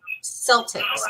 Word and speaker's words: Celtx: You can use a program called Celtics. Now, a lot of people, they pronounce it differently, but it's spelled CELTX. Like it looks like Celts, but it's CELTX. And you can Google it, Celtics.